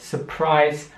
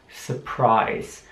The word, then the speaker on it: surprise: es noch mal langsamer surprise und jetzt ist jetzt interessant zu sehen dass das mit einem i geschrieben wird aber das mit ihm ausgesprochen surprise switch switch heißt so viel